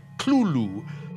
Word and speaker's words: Cthulhu: tells a colleague well it's really meant to be two syllables you're supposed to put your tongue at the roof of your mouth and cough it out like clueleu but he says you